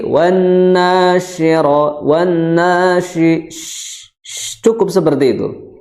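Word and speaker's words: وَالنَّاشِرَاتِ: Dan juga yang perlu diperhatikan pengucapan shin, ya, ini yang di titik 3 itu apa? Tidak terlalu dihentakan. Karena apa? Karena karakter dari shin itu apa? Lemah. Jadi jangan wan nashi, tapi wan nasyira, wan nashi, cukup seperti itu.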